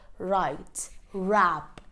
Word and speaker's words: wrap: So whenever W is followed by an R, the W becomes silent. So a few examples would be write, wrap, wrench.